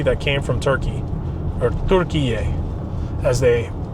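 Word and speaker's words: Türkiye: A lot of dried fruit in Costco, from the brand Nutty and Fruity, that came from Turkey, or Turkiye, as they pronounce it, as the proper way to pronounce so it now.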